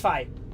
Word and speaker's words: Fie: I forget if that's pronounced fee or fi. Or fo or fum. It's fi.